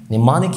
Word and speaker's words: mnemonic: لكن خليني اذكر لك دايما لو الام جت في الاول وجي بعدها في اول الكلمه وجي بعدها ان، دايما بيبقى صامت في كلمات نادره جدا زي كلمه نمانيك يعني تسكير او تسكيري.